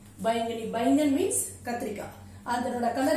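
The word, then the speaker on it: बैंगनी: பை இங் க நீ. பைங்கனி சொல்லாம பைங்கனி. ஏன்? லாங் சவுண்ட், சோ அதனால ஸ்ட்ரெஸ் இங்க இருக்கு. பை இங் க நீ பைங்கனி.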